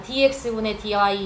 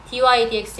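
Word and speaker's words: dy/dx: 그리고 얘도 dydx라고 읽어 주셔야 됩니다. dx분의 dy 이렇게 하시면 안 돼요. dydx 얘가 뭐냐면 이런 거거든.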